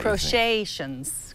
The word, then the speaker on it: Crochetations: Crochetations. Crochetians? Crochetations. Crochetations. Crochetations. Crochetations. C-R... Crochetations. It's crochet with a shuns.